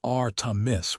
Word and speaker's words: Artemis: He pronounced it R Tiss with that Texas draw.